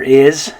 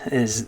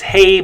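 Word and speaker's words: hay: know for this one the letter h is always silent in spanish okay so that's why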